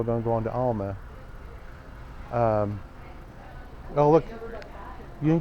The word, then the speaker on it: Alma: Is it pronounced Alma or Alma? Alma.